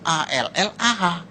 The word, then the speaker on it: Allah: Cuma dia membacanya, ngejanya beda sama kita. Kalau kita cukup Allah gitu. Kayak bercanda sama teman aja, Allah lu gitu aja tersinggung gitu ya. Kayak begitu, ringan gitu. Bacanya itu ringan. Tapi kalau mereka itu terpengaruh dengan bahasa Arab. Jadi nggak ringan, Allah.